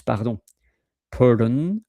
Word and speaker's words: pardon: which is also uh the same in French is paron pardon par p a r